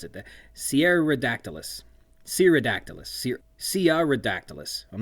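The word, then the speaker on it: Cearadactylus: later in the novel, I have been misspelling and perhaps mispronouncing. It doesn't have two R's in it, and I've been pronouncing it like Sierra, as in like Sierra Leone, which has two R's in it, but the actual name is more Brazilian in its pronunciation and spelling.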